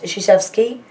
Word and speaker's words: Krzyzewski: Duke University basketball coach Mike Krzyzewski, it's pronounced Krzyzewski, is the winningest male college basketball coach in history with 976 career wins as of February 2014.